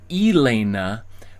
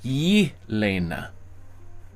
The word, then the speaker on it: Elena: One reason why people might put the Y in front is because it helps emphasize that the name is said not Elena, but Yelena, right?